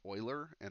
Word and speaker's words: Euler: iPad oops alright so and this name is pronounced Euler and if any of you ever say it any